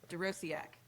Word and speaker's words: Dorociak: We'll see who can pronounce my last name after an hour. Dorociak.